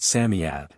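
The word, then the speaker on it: Psammead: Samad or sanf fairy Samad is pronounced Samad it was old old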